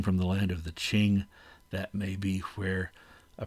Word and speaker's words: Qing: That's how you pronounce that uh Qing, by the way, in uh in Pinyin uh transliteration of of Chinese, the Qing dynasty.